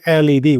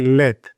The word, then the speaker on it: LED: We don't say LED, we don't spell it. We say LED.